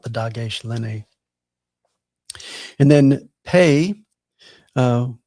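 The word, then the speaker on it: פ: dog len and then pay. Uh we actually call these pay and fay. Uh with the dog len it is a p as in pastor but without it it's an f sound like the ph you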